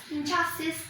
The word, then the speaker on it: injustice: Okay, we say injustice. Here the stress is on the second syllable.